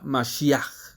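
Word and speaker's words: משיח: del idioma hebreo la palabra ungido significa se pronuncia masia de donde viene nuestra palabra Mesías Y si bien este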